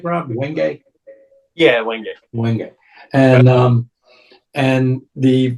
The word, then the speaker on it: Wenge: Am I pronouncing that right, Rob? Wenge?